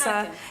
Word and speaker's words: cranachan: You're doing a very good job on pronouncing it because Cranachan. it's cranachan. But Cranachan. you're pretty good at that. Yes, you're. So you say cranachan.